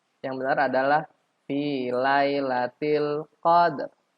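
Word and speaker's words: قدر: Padahal seharusnya yang benar adalah fi lailatil qadr. Qadr. Ada sedikit ro-nya. Di ayat kedua juga lailatul qadr.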